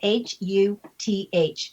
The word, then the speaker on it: Huth: And the last name, even though it's pronounced, like you're hearing some O's in there, there aren't any. It's just huh.